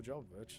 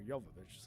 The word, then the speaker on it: Jovovich: And Resident Evil's definitely the movie that got him Milla Jovovich, so or Jovovich, sorry.